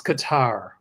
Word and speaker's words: Qatar: Is it cutter or guitar? It's Qatar.